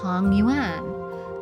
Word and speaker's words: tangyuan: Families prepare and share tangyuan , sweet rice dumplings, symbolizing unity and harmony.